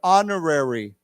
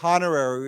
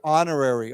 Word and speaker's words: honorary: don't we say together honorary honorary actually it's funny here here's another word where we do not pronounce the h right we talked about herbal air honorary we don't say honorary we say honorary okay so one more